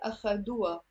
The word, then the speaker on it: أخدوها: And that ha in the Lebanese dialect, you don't have to pronounce it. It's mostly silent.